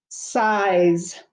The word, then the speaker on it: size: together like a slide size s i z e make sure you put that silent e at the end so that the i says its name size we don't want siz we want size s-i-z-e number five eight